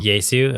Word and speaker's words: Yesu: Yesu. Okay. Yeah, it's Jesus without the last S.